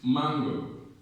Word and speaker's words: mango: Now, in the word mango, of course, mango, the stress is on man.